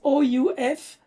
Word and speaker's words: ouf: Lili writes OUF, 3 points of exclamation, pronounced in French, ouf, which is an exclamation style of a sigh, of relief.